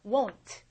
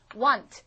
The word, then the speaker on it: won't: 자, 발음이 want. I want 하고 다릅니다. 이거는 want. 한 번 여러분이 W 발음 하고 한 번 나고 끝이에요. want. 얘는요 두 번 모입니다. won't. won't. 이렇게 돼요.